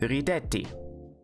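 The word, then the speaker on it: rideti: better said, a smile, then it's ridetti. So therefore, the stress has moved back, because it's still the second to last syllable.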